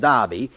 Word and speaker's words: derby: downs they're running the derby which is pronounced darby if you come from the other side of the tracks the other side from